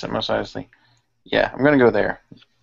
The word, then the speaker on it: Mos Eisley: That's how you pronounce it, Mos Eisley.